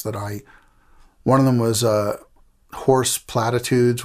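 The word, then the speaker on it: Hoarse Platitudes: one of them was Horse Platitudes, which was spelled like H-O-A-R-S-E, like horse voice like I have right now, and Platitudes, which was a take on the Doors' Horse Latitudes.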